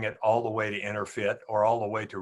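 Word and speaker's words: EnerPHit: It's called InnerFit, but the fit is spelled PHIT, so it's Inner PHIT.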